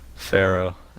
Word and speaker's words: Pharaoh: Is it Firo? Is it Faro? Pharaoh.